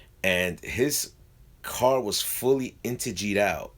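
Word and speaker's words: Integy: he's from Britain, and he called it Integi, and I kept on calling it Integi until I realized it's I'm saying it wrong. It's Intege, but yeah, that was one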